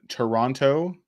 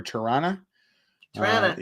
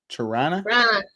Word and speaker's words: Toronto: the upcoming protest in Toronto or Toran T if you say it properly Tan t just like I live